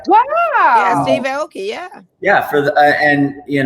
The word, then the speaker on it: Aoki: Yeah, Steve Aoki.